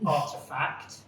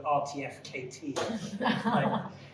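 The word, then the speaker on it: RTFKT: whatever nike buying um company i've always found very hard to pronounce but it's called artefact i used to call it for the rtf kt but anyway and then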